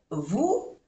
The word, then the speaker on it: vous: Il est juste derrière vous. En francés, para que la U, que se dice U, suene U, tiene que tener una O delante, vous, y no se pronuncia la S.